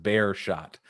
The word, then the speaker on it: Beerschot: people are telling us it's pronounced bear shot like you shot a bear that's easy we got